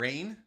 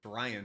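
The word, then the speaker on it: Rian: you just call him rain is his name rain Ryan Ryan whatever that's how much I paid attention to him I mean spell it's spelled r i a n so dyslexic Frank that's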